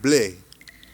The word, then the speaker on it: Blais: Blais is French. Is Canadian French. Like in France, they pronounce it Blais.